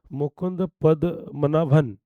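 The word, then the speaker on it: Mukund Padmanabhan: मुकुंद पद्मा, क्या मुकुंद, मुकुंद जो है पद्मन, हाँ, मुकुंद पद्मनाभन, थोड़ा थोड़ा सा ध्यान देना, प्रोनाउंसिएशन डिफरेंट है।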